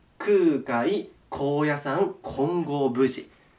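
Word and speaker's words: 金剛峯寺: ねここねよいしょ金剛に峰と書いて金剛無事と言います金剛無事これも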